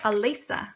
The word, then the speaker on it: Alisa: pronounce it wrong too it's like Alisa like it's just Lisa with an a in the front I had a friend